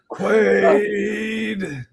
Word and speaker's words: Quaid: Quaid.